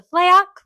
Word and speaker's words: Fleok: We are back with our celebrity guests, the Fleok.